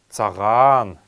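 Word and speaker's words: цаган: первое слово это слово саган саган саган нужно произносить его немного протягиваем вторую букву а саван саган это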